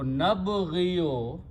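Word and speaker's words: نبغي: So nabghiyo, okay, which will be pronounced as nabghi, and when we don't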